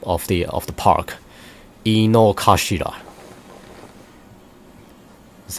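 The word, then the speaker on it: Inokashira: the overall map of the of the park Ino kashida that's how you pronounce it it looks pretty yeah it's it's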